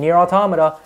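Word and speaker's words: NieR: Automata: oh and let's not forget about 2b and near automata and that's how you pronounce it by the way raccoon just just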